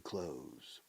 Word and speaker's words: clothes: close close close the close me personally all my life I have pronounced ropa is I've all my life I've pronounced this word close exactly identical to close the door close your eyes close